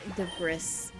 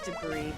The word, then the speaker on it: debris: No, I I purposely mispronounced dragon. I think it's fun. I do that with some words like the brris. I know it's debris, but I think it's more fun to say the brisk.